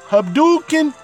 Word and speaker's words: Hadouken: you like it cuz it's supposed to be pronounced Hadouken Abdul King Abdul can't like Ryu's fireball cuz